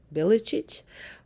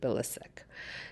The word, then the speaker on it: Bilicic: Actually, the proper way of saying my last name is Bilicic, but in Canada, everybody pronounces it Bilicic.